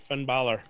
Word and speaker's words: Finn Balor: I actually say it right, Finn Balor.